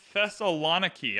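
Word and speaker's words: Thessaloniki: in our new city it's pronounced the Thessalon key I got this someone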